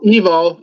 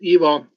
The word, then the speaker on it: Ivo: Hi guys, Evo. IVO is spelled, but it is pronounced Evo because I'm Croatian, and everybody but English pronounced word I-E.